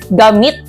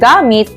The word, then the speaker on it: gamit: na kahulugan at pangungusap ito ay nasa diing mabilis mahusay ito ay ang gamit dahil ang gamit ito ay tawag sa